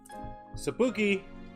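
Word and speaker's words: Szapucki: Zabucky? How do you say it, boss? Sapuki? Sapuki!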